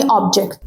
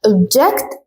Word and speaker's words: object: تاني كلمة وهي object ده noun معناها شيء يعني object. For example, organize your objects يعني رتب الأشياء بتاعتك أو الحاجات بتاعتك. لكن لو قلنا object بصوا الفرق في النطق. object دي كده verb معناها يعترض.